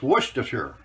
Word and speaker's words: Worcestershire: guy told me how to say this it's worcestershire that's how you pronounce it and it does come from england